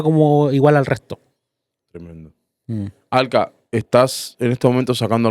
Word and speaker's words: Alkha: Alka, ¿cuáles son tus redes para que te pueda buscar la gente? Alka se escribe ALKHA_oficial.